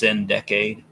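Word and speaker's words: Sin-Decade: Here's their fourth album, Syndicade, or it's pronounced Syndicade.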